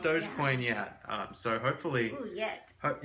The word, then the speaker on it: Dogecoin: And he organized it, but one of the rules of getting in was that you had to pronounce it Dogecoin and not Dogecoin.